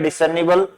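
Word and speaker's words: discernible: जबकि British English है, native जो ब्रिटिश है वो रे की साउंड नहीं करते हैं, जब इन बिटवीन होता है तो उसे बोलते हैं बर्ड, वर्ड, ऐसे। तो इसका आप ध्यान रखें। तो यहाँ ये साइलेंट है।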